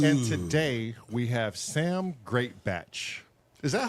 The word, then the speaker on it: Greatbatch: the podcast oh and today we have Sam greatbatch is that how you say your last name